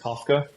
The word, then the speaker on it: Kawka: It's spelled Kawka, but it's pronounced Kafka.